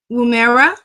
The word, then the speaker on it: Woomera: He launched two solar sounding rockets from Woomera. Did I pronounce that correct, Dr. Strong? Woomera, Boomerang. Woomera, South Australia.